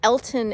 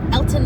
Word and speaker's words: Alton: especially if you're local, that I have somehow mispronounced the name of this town. It is not Alton, Illinois, which is what I say every single time you watch this back. It is Alton, Illinois, which I know it's spelled with an A.